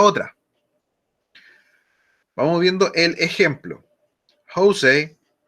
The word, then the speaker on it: Jose: Jose, así se pronuncia José en inglés, Jose, called while I was watching the news.